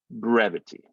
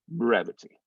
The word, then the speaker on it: brevity: art brevity and again breath that first consonant is accented so we're going to hit that e and then the v i t y we're not really going to we're going to schwa that i the y is sort of not a vowel for that so we could have that little e sound at the end that's okay so it would be